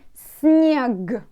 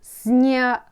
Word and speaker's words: снег: Snow for me, снег. But can you hear? Снег. Снег. I can pronounce it like k at the end, but you write it like g.